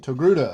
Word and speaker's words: Togruta: I can never pronounce it right. Togruta.